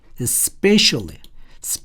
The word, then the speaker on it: especially: blind, especially. 자, spe의 스트레스, 강세가 있습니다.